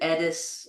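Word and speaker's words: Eddis: I say Aurelius and Teleus, and the queen is Irene, and I pronounce it Edis, and the country is Sunis.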